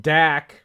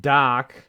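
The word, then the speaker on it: Dach: or Canadian either one Kirby DAP dak pronounced doc is a hell of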